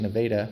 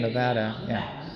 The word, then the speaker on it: Nevada: nope I've been to nadaa a couple of times I know that I need to pronounce it Neva instead of Nevada exactly but I like